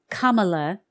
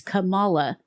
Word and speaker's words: Kamala: Kamala is not how it's pronounced. And not even how even she herself used to pronounce it that way. Kamala, or Kamala, actually it's Kamala.